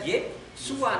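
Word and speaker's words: Yeshua: Jadi tulisannya di sana aslinya Yod Shin Ayin. Jadi bacanya Yesua.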